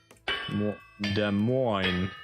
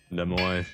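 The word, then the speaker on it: Des Moines: Similar issues arises when pronouncing the name of the capital of Iowa. Does de mo. Yeah, de mo.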